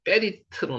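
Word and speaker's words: בְּרִית: 발음은 베리트로 나오지만 적기는 베리트로 적었습니다.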